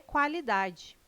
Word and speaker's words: qualidade: Qualidade. O QU não é dígrafo, não é pronunciado com um som único. O quá traz um ditongo, dois sons UA.